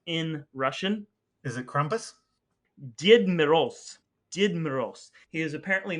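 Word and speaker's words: Дед Мороз: And do you know what Father Frost's name, how it's pronounced in Russian? Is it Krampus? Did Moroz.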